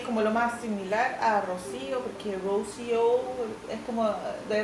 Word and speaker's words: Rocío: Ahora que soy internacional, eh, en la pronunciación se hace confuso. Entonces, por ejemplo, Rokio me dicen, o Rochio o Rose, más fácil. Claro. Eh, cre que es como lo más similar a Rocío porque Roso es como de verdad les cuesta